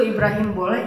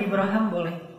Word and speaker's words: Ibrahim: Bahasa Arab itu Ibrahim boleh, Ibraham boleh. Itu dua cara baca Al-Qur'an kan ada qiraat kan ya. Jadi kayak bahasa Inggris Abraham itu bahasa Arab aslinya. Ibrahim Ibraham dua-duanya bacaan yang benar.